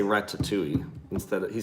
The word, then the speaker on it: Ratatouille: to be going on Ratatouille. I say, John laughs at me because I say Ratatouille instead of, he says Ratatouille. I pronounce the T a little bit more for some reason.